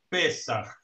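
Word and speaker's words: פסח: Es el mismo vocablo que en hebreo se pronuncia Pesach.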